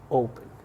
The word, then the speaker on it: open: Pero esta última no está acentuada, no está acentuada esta última sílaba. Este último sonido no es tan fuerte como el sonido de la O, donde tenemos el acento.